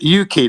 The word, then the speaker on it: Yuki: Yeah, Yuki, that's the pronunciation. That's Japanese, by the way, Yuki.